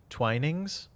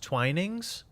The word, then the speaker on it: Twinings: It's a hard eye.